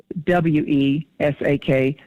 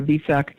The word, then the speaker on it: Vesak: up the Ascended Masters, V as in Valentine, E, S as in Spirit, A-K, some of them spell it with a W, W-E-S-A-K, Wesak or Vesak, and it's a very